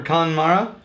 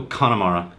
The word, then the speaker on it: Connemara: okay first things first we're gonna go for connemara yep pronunciation how do you say Terry I'll go Connemara connemara spend almost as possible kind of yeah